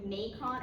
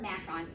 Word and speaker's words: macron: So that little line is called, it's either pronounced macron or macron, just like breve or brev. If you look it up in the dictionary, either pronunciation is acceptable.